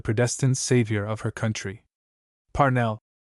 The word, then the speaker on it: Parnell: Parnell, she said with a strong accent on the first syllable, is the man of destiny.